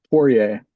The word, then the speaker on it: Poirier: they pronounce it a little more technically than that in France, but True. Yes. France is, yeah, they would do it totally right, and we do it totally wrong, but whatever.